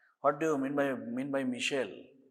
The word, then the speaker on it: micelle: What do you mean by Michelle? What do you mean by মিসেল বা মাইসেল? এখন উচ্চারণটা মাইসেলও বলে।